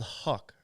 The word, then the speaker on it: Huc: enzyme in question is called Huck pronounced Huck that is even another